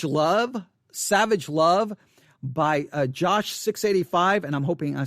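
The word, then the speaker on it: Jawsh 685: parentheses uh josh 685 j-a-w-s-h josh that's how i'm going to pronounce it uh jason um jason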